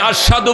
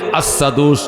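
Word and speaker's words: أشهد: হাবসী রাদিয়াল্লাহু তাআলা আনহু তিনি আশাদু বললে আসসাদু উচ্চারণ হতো আসসাদু সিনের মত উচ্চারণ হইতো এজন্য অনেকে অভিযোগ করছে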